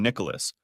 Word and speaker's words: Nicholas: To her, I've always been Nicholas, pronouncing all three syllables rather than blending in two.